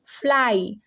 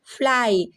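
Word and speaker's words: fly: आएगा आपका ठीक है जैसे एफ एल वाई क्या हो जाएगा फ्लाई अब यहां पे फ्ली नहीं फ्लाई सी आर वाई क्राई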